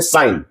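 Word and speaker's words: sign: हम लोग इसे पढ़ते हैं साइन। इसे हम लोग पढ़ते हैं साइन। तो यहां हम लोग देख सकते हैं कि यहां जी को नहीं पढ़ा जाता है। यहां जी साइलेंट होता है।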